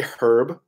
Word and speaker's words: herb: Like I say herb, like with an H, the way it's spelt.